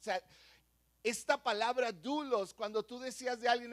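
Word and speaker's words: δοῦλος: en en el griego original es la palabra dulos di conmigo dulos como si fuera doble o así más o menos se pronuncia y quiere decir que es un esclavo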